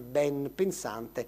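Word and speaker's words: benpensante: Tra l'altro qui potreste anche far rilevare che ben pensante è una delle poche parole che accetta N prima di P. No, perché dovrebbe dire ben pensante, pronunciamo, invece proprio perché l'etimologia è molto chiara rimane ben pensante, anche se lo scriviamo tutto attaccato.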